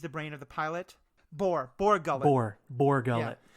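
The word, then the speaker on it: Bor Gullet: The thing with the Maw Gullet, what is it called? I think I'm pronouncing it right.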